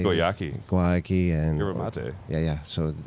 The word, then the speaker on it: Guayaki: Guayaki and Yerba mate.